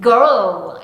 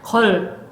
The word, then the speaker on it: girl: 그런데 한국식으로 발음하면 콩글리시 발음하면 걸 하면 무슨 소리가 아울 소리가 빠졌죠. 아유 소리 없이 걸 하고 있었던 거예요. 이게 아니라 girl girl 소리 내 주셔야 됩니다.